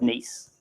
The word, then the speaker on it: Nice: So Hugh is absolutely fine pronouncing that word Nice. The Nice Jazz Festival.